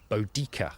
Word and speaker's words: Boudica: her people the name bodia as she's popularly known is in fact one of History's Greatest spelling mistakes she was uh almost certainly called bodika in the original Celtic pronunciation and the Roman historian